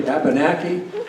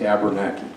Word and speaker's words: Abenaki: By the word, it's Abenaki is how we say it in the language. Abenaki is how you say it in English, unless you're in Vermont, in which case it's Abernaki.